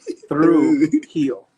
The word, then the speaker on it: Trujillo: the hill it's not under the hill it's through heel uh so uh through heel through heel yeah okay nice I like it yeah through heel and when you say it they're gonna say